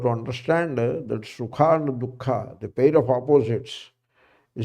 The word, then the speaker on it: दुःख: Some people do not pronounce that Visarga. They pronounce wrongly. Dukkha, something they pronounce. You have to bring out that Hakara, Dukkha. That Jeffa Muliya has to come out.